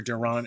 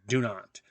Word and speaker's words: Dunant: And been reading two books by Sarah Dunant, and I pronounced her Durant in the previous videos, so I apologize for that. It's Dunant, Dunant.